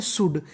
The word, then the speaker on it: should: इस मीनिंग में लिखा है SHOULD, इस मीनिंग को हम लोग पढ़ते हैं शुड, क्या पढ़ते हैं शुड।